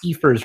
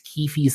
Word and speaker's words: Kefi: still pronounces it wrong he still pronounces it like ke's Keers or something it's like it's Kefi Keers are you serious